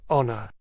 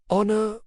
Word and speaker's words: honor: There is a silent letter in the word honor. It is the second letter, the H, which is silent. Honor, honor.